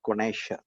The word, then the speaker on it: connoisseur: It is pronounced as connoisseur.